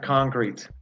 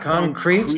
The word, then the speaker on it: concrete: - My house is 100% concrete. "Concrete". Not "concreech", not "concretchy".